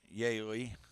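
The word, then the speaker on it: Yely: So again, that was Yay. Believe that's how I heard his name pronounced. It's spelled ye ly.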